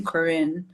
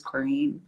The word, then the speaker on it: Corrine: keep dancing because um the teacher called me corinne and i was too shy to correct it and say my name's corrine so she's like a